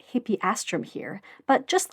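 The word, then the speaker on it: Hippeastrum: Sean was correct when he pronounced hippieastramm here, but just like with Gaton Aster, it gets confusing when vowels get squished together and he's going to say hippistrom for the rest of the episode.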